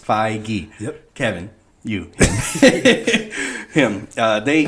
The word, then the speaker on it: Feige: Yeah. Feige. Kevin Feige. 2 syllables. Feige.